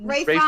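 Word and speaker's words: Ralph Fiennes: Yeah, Ray Fiennes. Which is another name that I Mhm. did not learn until a couple of years ago. That's how you say it, because it's not spelled that way.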